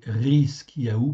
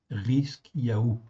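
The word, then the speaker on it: חזקיהו: Donc ici, et Ézéchias, c'est Rizkiyahu pareil. Rizkiyahu.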